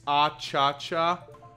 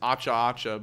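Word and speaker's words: Achacha: It's Acha-Cha. Oh, okay. Apologies. I would have pronounced it as Acha-Acha, but okay.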